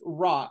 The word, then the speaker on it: roc: Yeah, it's literally it's pronounced Rock.